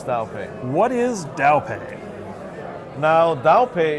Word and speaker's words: Daopay: Did I pronounce that right? Yes, correct. And it's Daopay, correct? Yes, it's Daopay.